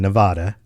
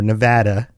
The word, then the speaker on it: Nevada: Well, if you've been to Las Vegas in Nevada, or Nevada, as I've been told is the proper way to say it by people who live there, in the U.S., if